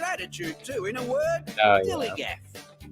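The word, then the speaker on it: DILLIGAF: In a word, dillygaff. That's spelled D-I-L-L-I-G-A-F, dillygaff.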